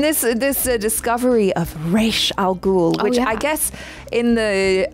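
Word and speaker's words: Ra's al Ghul: this a discovery of re Al goul which I guess in the uh in the Christopher Nolan Batman they probably said his name wrong cuz they were like rasal ghoul I didn't even I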